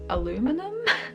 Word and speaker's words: aluminium: a lot of children's contain aluminium which is actually really bad for you or as Americans say aluminum but yeah so if